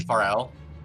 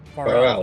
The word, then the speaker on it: Farrell: You mean Pharrell? Farrell, thank you.